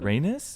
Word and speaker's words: Rhaenys: Rhaenys? Yeah, the other sister. Yeah, it rhymes with anyway.